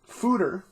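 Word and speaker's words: foeder: comes in at 355 mills a 4.8 percent fooder as this word is pronounced essentially means a large wooden barrel metal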